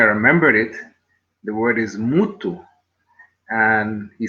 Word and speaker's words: mutu: And he said, it's exactly the same word in my language. Then he asked me, well, how do you spell it? I said, we spell it M-U-T-U. He said, well, there's only one difference. We spell it M-T-U. But obviously, the sounding of it is 100% the same.